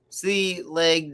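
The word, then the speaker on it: Sliabh Liag: silky is by uh is it sibyllith or saliva uh pronounced oh pronounced sea leg distilleries in ireland that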